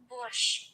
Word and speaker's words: борщ: It's borscht. Борщ. So it is sh. Yeah, you're right. You're right. I don't know why we do it with a T in English.